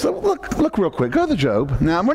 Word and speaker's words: Job: There was named Job. Some people say Job, but it's pronounced Job.